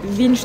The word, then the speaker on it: Winstub: j'ai déjà oublié mais ça s'écrit W et ça se dit vinbe un comme ça vin V V V V ce qui est marrant